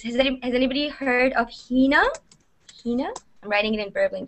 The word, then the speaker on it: Hina: actually comes from from from that so henah Hina a lot of people pronounce it differently so my name is a